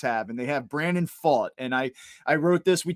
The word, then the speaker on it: Pfaadt: So, I mispronounced it on our last episode. So you went to Baseball Reference. We saw that the pronunciation was Pfaadt.